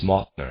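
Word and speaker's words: Mauthner: The thinking of people like Fritz Martner, and I'll spell that, it's Mauthnner, Fritz Martner, is more typical than one might assume, and there are many of them.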